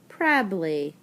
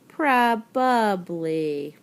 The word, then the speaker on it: probably: It is often misspelled because lots of times people pronounce it like this word is spelled. They say probably, but really the word is probably.